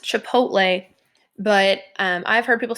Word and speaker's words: Chipotle: or how you've heard it mispronounced so it's pronounced Chipotle but I've heard people say Chipotle or Chipotle something that my dad says all the time